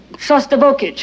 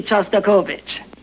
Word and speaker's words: Shostakovich: compose language that'd be going we're hearing a sauce turbo kit you know that Shostakovich and since you're a